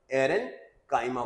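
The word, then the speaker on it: aerenchyma: ए इ आर वैसे तो ए आई आर वो स्पेलिंग होती है बट एयरनकाइमा बोलते हैं।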